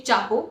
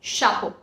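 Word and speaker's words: chapeau: and not sure as in English language we pronounce it as sure for example it's a hat we don't say Chapo it's not Chapo it's Shaco champagne champagne champagne another rule is that if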